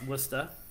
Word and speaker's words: Worcester: Worcester. Worcestershire. Worcester. Don't you have a sauce that's pronounced like Worcestershire?